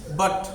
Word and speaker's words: but: देखिए लिखा होगा यू, लेकिन ध्वनि आएगी आ की। लिखा क्या होगा यू, जैसे कि बट, जैसे कि क्या है बट, तो BUT क्या लिखा है बट, लेकिन उसमें लगा क्या है यू, BUT। और उच्चारण कैसा आ रहा है आ का, उच्चारण कैसा आ रहा है आ का।